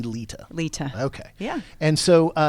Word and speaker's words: Leta: So you're Southern, so there's a D in there in the South. Right. That's the Southern pronunciation is Leta, but it is actually Leta.